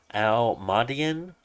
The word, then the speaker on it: Al-Mada'in: m a nation and it's named al-madian almadian I believe that's the way you pronounce it the word is right there Al Dash m-a-d-a-i apostrophe i n so we have a